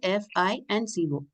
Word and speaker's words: FICO: Okay, we should call it as FI and CO.